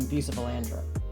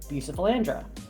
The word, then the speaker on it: Bucephalandra: bare, so I decided to splurge on some Bucephalandra.